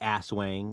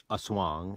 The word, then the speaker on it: aswang: it's better than asswang though speaking of the asswang or asuang as it's actually pronounced peter has an art collection featuring the